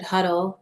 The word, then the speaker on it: Huddle: Okay, so I guess to clear up what Aaron was saying, it's pronounced Law Office of Richard Huddle. Nobody gets it right. I got it wrong the first time too.